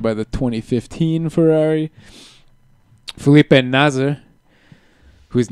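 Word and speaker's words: Nasr: most of the commentators they've gotten really careful about pronouncing the r yeah really pronouncing it as nazer na nazer not NASA it's it sounds a lot a lot the same and Marcus Erikson again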